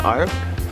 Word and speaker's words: Arve: Geneva sits between a crystal clear lake and two rivers, the Alf and the Rhone. Alf? How do you pronounce it? The Arve?